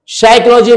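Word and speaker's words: psychology: और उसे याद करो साइकोलॉजी में यहां पर कभी के नहीं आता है यहां पर सी एच आता है और पी हमेशा साइलेंट रहता है तो साइको साइकोलॉजी मनोवैज्ञानिक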